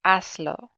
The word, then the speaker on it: hazlo: Now in this case, I told you it comes on, the emphasis comes on the second to last syllable. So in this case, adding this pronoun here just made it 2 syllables long, hazlo. So as still is the second to last syllable because the last syllable is lo. As is the second to last syllable. So in that case, we didn't need to mark it.